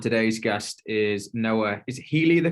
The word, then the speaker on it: Healy: Is Healy the correct pronunciation? I always have checked that before. Healy, yes, Yeah. Healy is the correct pronunciation.